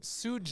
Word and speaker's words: Suge: Yeah, it's Suge. Yeah, like, it's- Like like sugar. sugar. Yeah. Like sugar.